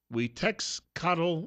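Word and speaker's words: Xiuhtezcatl: His first name is X, so I guess that would be, well, right, in Spanish. So it'd be Huitexcatl Martinez.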